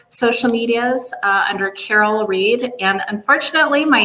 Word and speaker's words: Rhead: medias uh under Carol Reed and unfortunately my name is not the easiest to spell so beware there's two RS in there and then Reed is spelled rhe e a d uh I'm also uh